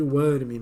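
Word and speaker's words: Wyrm: Eh, o inglês fica mais próximo de worm, né? Quando fala, né? É, fica bem perto até daquela pronúncia de verme, worm, né? Eh, WM, Worm que o cara fala, né? Mas em português o é WRM, né?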